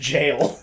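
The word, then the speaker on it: gaol: Like gowl. Gowl? Gowl. I was like, that doesn't even say. Those letters don't. That sounds wrong in every way. That's pronounced jail.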